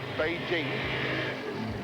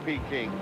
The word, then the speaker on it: Beijing: with the modern respect for other traditions we pronounce it Beijing so that that attractive pug noos little dog